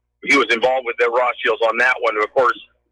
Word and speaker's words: Rothschild: And he was involved with the Rothschilds on that one.